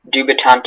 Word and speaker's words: dubitante: Dubitante is the only pronunciation.